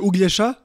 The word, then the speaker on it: Uglesha: It's actually Uglesha.